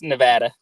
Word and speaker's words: Nevada: Rowdy houndsman from well how do you say it Nevada I say it Nevada it's Nevada well maybe in your part